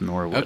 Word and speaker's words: Norwood: uh thing I think it's called Norwood it's pronounced Norwood yes it's pronounced Norwood okay okay well thanks Sunny we appreciate that